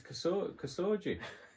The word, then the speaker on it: Khashoggi: Your pronunciation of that name is classic, though. Well, yeah. It's Khashoggi.